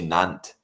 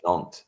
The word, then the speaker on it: Nantes: The sheer fact that when you pronounce the city Nantes, is you don't say Nantes, you say Nantes.